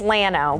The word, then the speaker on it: Llano: Well, the locals pronounce this Llano, but Right. if Yes. if we're speaking proper Spanish, it's Llano.